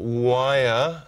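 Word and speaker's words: Weyr: It's written by Jason Ning and directed by Tara Nicole Wire, because I always pronounce it wrong. She won't be watching, I don't know I'm doing that. She might. Yeah, but anyone who wants to comment on it, that's how you pronounce Tara's name.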